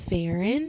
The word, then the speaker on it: Farron: My name is Farron. It's pronounced like Fahrenheit.